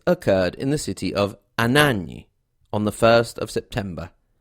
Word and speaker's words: Anagni: His death occurred in the city of Anagni on the 1st of September.